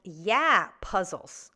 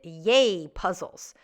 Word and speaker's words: Yay Puzzles: It should be pronounced Yeah Puzzles. I should have gotten that right because Usher just sang that song at the Super Bowl halftime. But being the true Canadian that I am, I pronounced it Yay Puzzles.